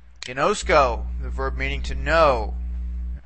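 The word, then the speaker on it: γινώσκω: We have three syllables, see, ginosk, and ko, okay? But in this case, we're only going to be able to bring back the accent one syllable because the ultima is a long vowel. So the accent would have to go one syllable back on the penult, okay?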